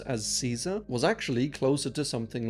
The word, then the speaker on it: Caesar: And another interesting fact is that the letter C was always pronounced as a hard C in Latin. So during the time of the Romans, the name we pronounce as Caesar was actually closer to something like Kaiser or Kaiser.